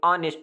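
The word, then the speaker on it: honest: तो इसमें H silent होता है, इसको जब लिखते हैं तो ऑनेस्ट लिखते हैं, मैंने साइड पे लिखा भी है।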